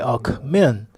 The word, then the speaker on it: Alckmin: You have to place the emphasis on the last syllable if you're serious about winning the elections.